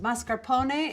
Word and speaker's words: mascarpone: or a toasted baguette this is mascarpone pronounced mascarpone in italian this is a